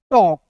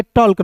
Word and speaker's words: talk: जैसे A के बाद LK आया तो T का ट लिखिएगा और A का उच्चारण औ के रूप में कीजिए, K का क लिख दीजिएगा, टॉक, TALK, टॉक पढ़ेंगे, टॉल्क नहीं।